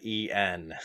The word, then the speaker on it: en: you should have said en oh no no and uh another one of those two letter scrabble words you see a bunch it n pronounced as the letter and it's literally the